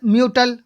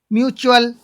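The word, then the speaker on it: mutual: ऐसा म्यूटल, म्यूटल नहीं बोलेंगे, म्यूचुअल, है ना।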